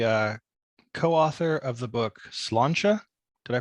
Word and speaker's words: Sláinte: book you're the uh co-author of the book slancha did I pronounce that correctly you did indeed the complete